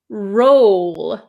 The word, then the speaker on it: roll: for the r r the second word is roll I make an O shape with my mouth roll roll uh can you